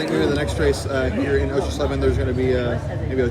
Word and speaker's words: Oshersleben: So it's Osher Schleben. I know it looks like a Osher Schleben. I'll say it like that next time. Osher Schleben. There's Osher Schleben. Osher Schleben. It's like a little bit of a sh.